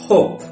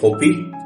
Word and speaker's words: hope: Interesting matter হচ্ছে যখন ই শব্দের শেষে আছে তখন কিন্তু সেটা আমরা সাইলেন্ট রাখি। যেমন হচ্ছে আমরা কি বলি LIKE, লাইকি, নো আমরা বলি লাইক। হোপ, HOPE, এটাকে কি আমরা বলি যে হোপি? নো, আমরা কিন্তু বলি হোপ। এই যে ই আছে কিন্তু সে উচ্চারিত হচ্ছে না, এটাকেই বলা হয় সাইলেন্ট লেটার।